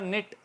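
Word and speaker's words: knit: इसी तरह निट, बुनना, निटिंग, जो हमारी ख़वातीन बुनती हैं स्वेटर वगैरह, तो निट, के साइलेंट रहा और NIT की आवाज़ आई, निट, निटिंग, इसी से निकला है, ठीक है।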